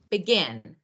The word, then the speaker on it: begin: Or, for example, begin, begin. It's not begin, begin.